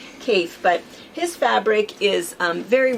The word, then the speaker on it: Kaffe: about this before because it looks like it should be calf, but he says Kaffe, like safe is what he says. So it's Kaffe, but his fabric is very recognizable.